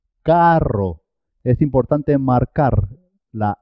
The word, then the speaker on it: carro: ser doble por ejemplo cuando se escribe doble dos RS siempre suena doble carro carro es importante marcar la